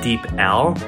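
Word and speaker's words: DeepL: But the translation app I use is Deep L. So if you guys look up Deep L, deep, like you're deep in the water, and L, and yeah, it's the best translation app.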